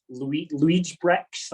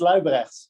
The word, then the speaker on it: Luibrechts: It's Luibrechts. Luibrechts. Yeah, you got to have the G and the rolling tongue for it.